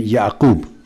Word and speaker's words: Yaqoob: prophets is hark and Yaqoob his heart and yaqoob I won't say Isaac and Jacob so I will always prefer the Quranic pronunciation it is stated in